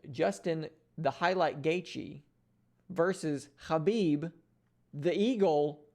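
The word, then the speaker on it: Khabib: the highlight gaichi versus habib the eagle norma khamedov and yes that is the proper pronunciation of both his first and last name so super excited to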